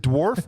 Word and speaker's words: Dourif: is true is it is it dwarf or dorf CU I'm not correcting you I literally don't know how it's said dor Brad dorf Brad dorf okay who played a